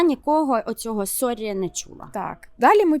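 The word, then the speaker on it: sorry: спочатку Давай його розберемо це Сорі так не англійська S не американський лад а саме норвезька вимова Сорі але це є Калька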